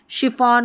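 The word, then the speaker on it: chiffon: अब जैसे ये शेफ, शेफ की स्पेलिंग है ना, ये हमारे काम आने वाली है। शिफॉन हो गया, शोफर, ठीक है, शोफर के बाद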